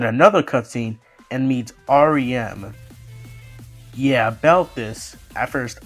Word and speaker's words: Ariem: the tutorial then another cut scene and meets RM yeah about this at first I I I know no one pronounced it but I thought it was pronounced arum but apparently if you hear it when you